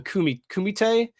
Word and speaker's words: Kumite: Basically, there was this underground fighting tournament called the Kumite, is how you pronounce it, and it's like Mortal Kombat, like you die if you lose.